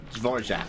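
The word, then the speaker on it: Dvořák: sure I say his name right uhor jaac zorack that's how you say it yeah I like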